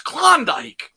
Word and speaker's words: Klondike: You said it weird. It's Klondike. Klondike? Yes. That feels weird in my mouth. It's the proper way to say it. It's not a W. I promise, Rob. I'm not steering you astray on this one.